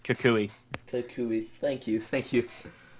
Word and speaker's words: Kukui: Yeah, Kukui. After the Kukui nut.